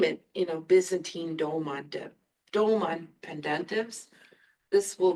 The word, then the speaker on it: Byzantine: I've heard it pronounced different ways depending on which videos you're listening to and who says it, but any American, presentations on it will pronounce it Byzantine.